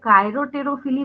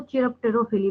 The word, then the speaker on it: chiropterophily: जब पॉलिनेशन कराए तो इसको कई लोग कायरोटेरोफिली बोलते हैं, कई लोग इसको चिरप्टेरोफिली बोलते हैं। आपको जो प्रोनाउंसिएशन करना है कीजिए, स्पेलिंग चेंज नहीं होने वाली।